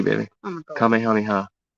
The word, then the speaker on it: Kamehameha: King Kamahaya, Kam Kamehameha. Dragon Ball Z, baby. Oh my god. Kamehameha. That's how you pronounce that. I know it's a tongue twister.